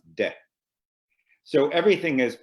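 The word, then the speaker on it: δέ: Again, it's untranslatable, but it creates a feeling called or pronounced de.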